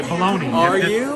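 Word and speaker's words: Bologna: a different way okay baloney if you want to pronounce it that way it's got a g in it I was so confused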